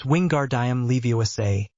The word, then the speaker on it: Wingardium Leviosa: It's Wingardium Leviosa. Make the gar nice and long.